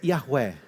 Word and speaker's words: Yahweh: Se pronuncia mais ou menos assim, Yahweh. Yahweh. Eu não falo hebraico. Um amigo meu falou assim: se você falasse hebraico, você ia ser impossível. Mas é Yahweh.